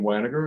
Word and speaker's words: Wanager: All right, my name is Wanager, and thank you for pronouncing it correctly.